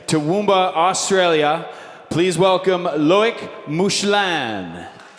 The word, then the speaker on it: Toowoomba: Toowoomba, Australia.